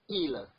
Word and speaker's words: ils: This il, although it has s at the end, but you not pronounce the s. You say il is the plural for il.